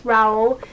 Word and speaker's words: Rowell: fan girl by rainbow rowell and it is raul because i tweeted rainbow and i asked her how do you pronounce your surname because people pronounce it differently